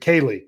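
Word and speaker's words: Kelee: skoronski 13th Keely Ringo is it Kaylee Keely I think it's Keeley Ringo 14th Devin Witherspoon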